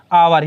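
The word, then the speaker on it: hour: क्या है, आवर। यहाँ खालिस्तान मिला, खालिस्तान तुरंत बाद के वर्ड को देखो, यहाँ पे क्या, आवर, तो एच साइलेंट हो रहा है इसमें, आवर।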